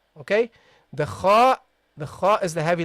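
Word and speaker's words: خ: The kha is the heavy letter. So you got all the other letters are soft letters. Only the kha is a heavy letter, okay? Should be pronounced heavily.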